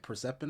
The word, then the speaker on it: Persephone: Persephone.